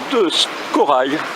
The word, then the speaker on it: de Scorraille: Et je suis avec Emmanuel de Corail. Je prononce bien? C'est bien cela.